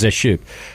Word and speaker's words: Zeschuk: Yeah, Zeschuk is way easier, isn't it? It is. So. It's not fancy. It's so funny, like, as soon as I pick a name phonetically, it's always the opposite, right? Yeah. I was like, no, it was Zeshuk. Fuck. No, that's probably the right way to say it.